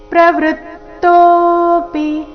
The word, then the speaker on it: ಪ್ರವೃತ್ತೋಪಿ: ಸಂಯುಕ್ತಕ್ಷರ ಬಂದ ಕಾರಣ ಕರ್ಮಣ್ಯಭಿಪ್ರವೃತ್ತೋಪಿ ಪ್ರವೃತ್ತೋಪಿ ತ ಕ್ಕೆ ತ ದು ಗೊತ್ತಿದೆ ಪ್ರವೃತ್ತೋಪಿ ಚರಣದ ಕೊನೆಗೆ ಬಂದಿರೋ ಪಿ ರಸ್ವ ಬರ್ಬೇಕು ತೋ ದೀರ್ಘ ಹೇಳ್ಬೇಕು ಪಿ